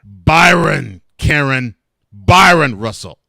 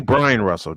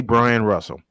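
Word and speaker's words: Bryon Russell: Byron Russell. Brian. No, it's actually Brian Russell, just spelled with an O. Oh, okay. It's actually Brian Russell.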